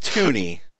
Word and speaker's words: Tunny: the t t t it's pronounced tuny cuz you guys have